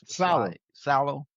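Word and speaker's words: Saleh: Tennessee Titans, Robert, how you pronounce that man last name? Salo. Salo.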